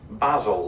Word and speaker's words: basil: I call this basil, like Basil Fawlty.